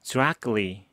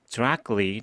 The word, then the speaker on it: directly: 자, CTLY가 끌리로 난다고 배웠기 때문에 이것도 directly, directly 또는 directly 이렇게 발음을 하게 될 겁니다.